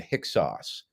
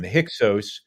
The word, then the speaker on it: Hyksos: the ancient Israelites in hixos we're talking about the same group in fact I would say hicksauce is another way of pronouncing it which is probably the correct way so I'll I'll try